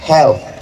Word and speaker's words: health: Di ujungnya ada TH, health.